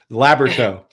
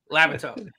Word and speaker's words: Labyorteaux: I spelled that, said it wrong. I'm sorry. It's a personal nightmare. Labyorteaux. Labyorteaux. That is what, French? Yeah, it's Cajun, or somebody made it up in Louisiana.